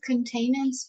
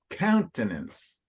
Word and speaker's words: countenance: respect and Cain was very rough and his containers fell that's countenance oh countenance so remember the emphasis in English